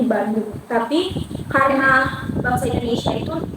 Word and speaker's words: Bandung: o e n g yang kalau kita baca Emang o e itu dibacanya u kalau dari bahasa Belandanya jadi Bandung tapi karena bahasa Indonesia